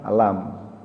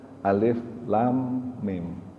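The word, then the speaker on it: الم: atau alam apa umumnya kalau ada huruf alif lam dan minum dibaca alam tapi ini unik dibacanya Alif Lam Mim ya memang pada waktu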